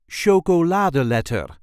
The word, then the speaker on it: chocoladeletter: This is the way we say sholad letter. Sholad letter. There is a slight emphasis on the third syllable.